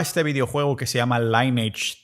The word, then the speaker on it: Lineage: videojuego que se llama Lineage 2, lineaje 2, si utilizas la pronunciación en español.